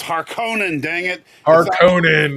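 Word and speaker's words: Harkonnen: heard you saying this when when I it's har Conan dang it haran right on man I'm like Harkin I hate remember remember back in the 80s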